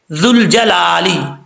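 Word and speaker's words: ذُو الْجَلَالِ: नहीं पढ़ना ठीक है जुल जलाली यहां पर दल जो है सीटी के बगैर पढ़ा जाएगा क्योंकि दाल की शक्ल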